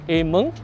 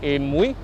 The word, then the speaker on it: Amoy: They used to pronounce it as Ameng, or some of them would pronounce it as Amoy.